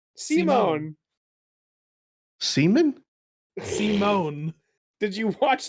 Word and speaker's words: Simon: I think despite the fact that it's spelled Simon, they say it's Simone.